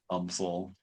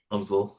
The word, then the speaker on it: UMSL: Not like the University of Missouri St. Louis, but they actually do pronounce it UMSL. UMSL.